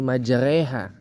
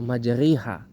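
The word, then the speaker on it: مجراها: berkendara itu kan juga kita bacanya dengan huruf e kan Bismillahi majreha bukan Bismillah j atau majriha ya kan Bismillahi majha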